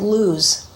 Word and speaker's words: Luz: Laws, they actually pronounce it luz. And it's also pronounced luz in Hebrew, and it means the nut tree, or specifically the almond.